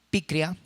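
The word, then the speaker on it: πικρία: Porque la palabra amargura viene de una palabra griega que quiere decir, o que se pronuncia como picria, y quiere decir que denota amargura y se relaciona metafóricamente con una condición extrema de maldad.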